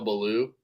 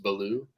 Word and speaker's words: Ballou: It's like you can kind of pronounce it like it's French and just it's still Ballou. Like the T is silent and it's just Ballou.